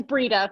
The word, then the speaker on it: Breeda: much for the question brenda hi how are you i'm well how are you i'm gonna get your first name wrong i'm sorry it was a little yeah it's breeda that's okay okay um my